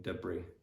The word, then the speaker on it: debris: there are some words some other words that come from for example french or the languages in which the letters is silent so for example in debris debris debris debris patio patio yeah